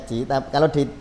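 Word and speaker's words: Qi: Jadi kalau di konteks tasawuf ya, kalau di kedokteran timur ada istilah meridian, ada Ci ya, Ci atau energi, tulisannya iya bacanya Ci.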